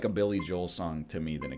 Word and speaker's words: Billy Joel: New York groove to Billie old also known as Billy Joel by people who respect him enough to pronounce his name properly I've been mistaken this